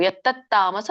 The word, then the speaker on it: ಯತ್ತಾಮಸ: ಎಲ್ಲಾನು ಒತ್ತಕ್ಷರ ಬಂದಾಗ ಹೇಳಬೇಕು ಯತ್ತಾಮಸ ಮುಚ್ಚತೆ ಮತ್ತೆ ಯತ್ ತತ್ ಅಂತ ಹೇಳಿ ಗ್ಯಾಪ್ ಬಿಟ್ಟು ತಾಮಸ ಮುಚ್ಚತೆ ಹೇಳಬೇಡಿ ಯತ್ತತಾಮಸ ಮುಚ್ಚತೆ ಸರಿ ಇದರ ಒಂದು ಅರ್ಥನ್ನ